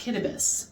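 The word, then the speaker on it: Kiribati: little island country called the rep Republic of kbus it's actually spelled cirb body but it's pronounced kbus and for any you know history Buffs out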